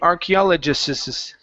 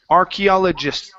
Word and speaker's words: archaeologists: So when you're saying this, you're saying archaeologist and you're adding extra s sounds. Okay? So this is archaeologists.